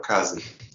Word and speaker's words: Kaze: so forth and uh and talking more about case Kazi do you guys say case or kazin I used to say you would know say